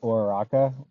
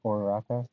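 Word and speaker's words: Uraraka: Uh, instead of Ouraka, Oraka, that's how you say it.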